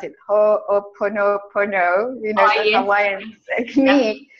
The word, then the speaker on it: Ho'oponopono: And as I'm saying this, I'm thinking about I never know how to pronounce it. Ho'oponopono, you know, the Hawaiian technique.